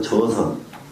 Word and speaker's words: 저선: 재로 발음하지 않고요. 저로 발음을 읽어요. 저선. 저선 그러면 그냥 선이래요.